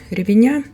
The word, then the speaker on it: ревеня: Сейчас как раз сезон ревеня. Название этого растения ставится ударение именно на последний слог.